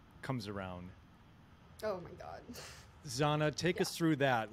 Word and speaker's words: Zahna: for Branding and so I took Zana as the last half of my name Susana in Spanish with the pronunciation on it and then I added the English um you know Twist on it so itzano Susana Zana yeah love it love it